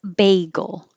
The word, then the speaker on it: bagel: basically tur amateur amateur the bread is bagel and it has a bay the dog is beagle